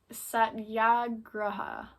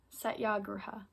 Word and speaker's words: satyagraha: yeah oh my goodness no it's not sorry for daya it's um it is satyagraha satyagraha and this is the